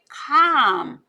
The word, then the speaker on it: calm: 자, number 3, whole grain help you keep calm. 네, 이때 L은 묵음이라 소리 안 납니다.